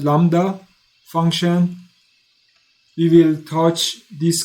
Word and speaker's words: lambda: So remember you don't pronounce B which is called lambda function.